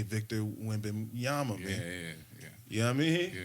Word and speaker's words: Wembanyama: game is, yo, dog, I might say Victor Wembanyama, man.